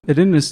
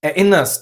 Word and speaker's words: Erinnerst: A general rule is, if a syllable starts with a vowel, especially after a prefix, you use the glottal stop.